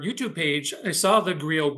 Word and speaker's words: griot: And I chose Griot B, a griot, also a griot in some pronunciations, a jelly in the Mande people and tradition.